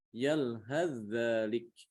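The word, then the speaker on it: يَلْهَث ذَّٰلِكَ: Ini kalau disambung bacanya dibaca yalhadzalik. Yalhadzalik, langsung ke dzal, diidghamkan ke dzal.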